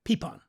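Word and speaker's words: pipón: you're spewing it quickly say the word a pea Pawn peepon it's spelled p-i-p-o-n okay but it's a peep on it's just an oversized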